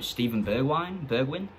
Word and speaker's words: Steven Bergwijn: I don't pronounce this guy's name. Steven Bergwijn?